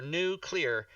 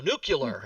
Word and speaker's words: nuclear: and then i go can you say the word clear like c3 and i say now just put those two words together new clear and they go nuclear and i'm like [